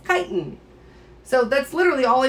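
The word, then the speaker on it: chiton: is a titan now i did pronounce the ch because that's how you pronounce it it's not triton it's chitin so that's literally all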